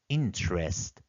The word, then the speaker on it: interest: in the comment section interest here is e is silent and T is followed by R therefore it sounds as CH interest we have a separate